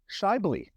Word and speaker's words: Schaeuble: Now, without further ado, let's welcome the maestro of podcasting and business strategies to the show, Adam Shyley. Very nice, Phil. Better. Great, man. Great job on the pronunciation.